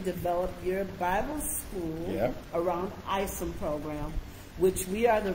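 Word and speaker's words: ISOM: us about we have a program called isim it's spelled is O M right which means International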